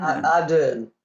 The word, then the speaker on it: Ardern: Is it Ahern or Ahern? Ardern. Ardern.